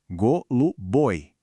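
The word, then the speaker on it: голубой: Goluboi é a sílaba tônica no final que puxa essa terminação.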